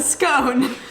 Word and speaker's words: scone: scone in the uk i do not agree with your pronunciation of this word but we will continue for the record where i'm from in the uk i call it a scone and where i'm from we pronounce it scone irony is the uk